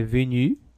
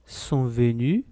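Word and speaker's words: venue: letra e ela é venu obila a pronúncia não muda né vai ser venu venu venu sempre igual alê alê a pronúncia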